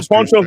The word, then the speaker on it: poncho: Oh yeah, those are the Ponchos Rojos. The Ponchos Rojos. They wear their ponchos, which is pronounced poncho in Spanish. That's a weird way to say it.